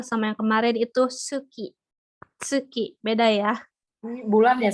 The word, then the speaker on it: tsuki: Karena ini bukan diucapkan su tapi se. Oke. Ini minasang, ada yang bisa baca contoh kosakatanya? Tuki. Oke, betul. Ini ya tsuki.